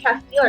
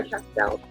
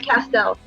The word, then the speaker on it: Castell: Is it pronounced Castile or Castell? Oh, it's Castell. I always thought there was an I in there.